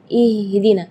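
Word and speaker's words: اهدنا: ketika membaca ihdiniratal mustaqim baca haknya keluarnya dari Dada ya i i itu tidak boleh itu keluarnya dari dada sedangkan makhraj huruf ha itu adalah dari tenggorokan jadi Keluarnya tipis karena ha itu eh termasuk huruf di antara 28 huruf hijaiah yang paling lemah adalah huruf ha maka kita jangan berlebihan supaya huruf ha itu jelas jadi kita ih ih gitu enggak jadi ihdina ihdinatal mustaqim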